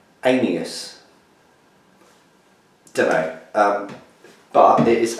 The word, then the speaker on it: Aeneas: heus um by reinch it's very very hard to pronounce and I spent hours having a look and everywhere seems to have different ideas of how to pronounce it it's actually spell a e n e a s anus demo um but it